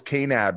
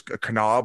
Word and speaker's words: Kanab: people were correcting me i thought it was canab utah but it's kanab i think it's pronounced but then uh for